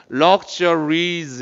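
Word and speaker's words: luxurious: 근데 발음이 조금 틀려. 럭셔가 아니라 luxuries 이렇게 말하면 돼.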